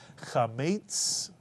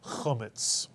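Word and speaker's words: חמץ: The first syllable, cha, with the chet, the slight clearing of the throat. And the second syllable, metz, or some people would pronounce it metz. Chametz, chametz. And in English, it tends to be called chometz.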